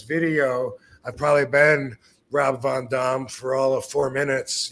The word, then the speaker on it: Van Dam: wrong all this time actually the real answer answer to that yes seriously the name that I was given was Rob Von Dum what y believe it